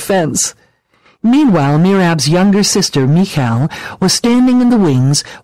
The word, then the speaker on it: Michal: It's pronounced Michal with a soft K sound. You're right, it does sound like you're clearing your throat.